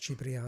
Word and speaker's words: Cipriano: In Cipriano. Italian, it is pronounced Cipriano.